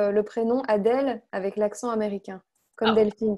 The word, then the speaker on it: Adèle: Juste pour savoir prononcer le prénom Adèle avec l'accent américain, comme Delphine tout à l'heure. Adèle. Adèle. Très relâché.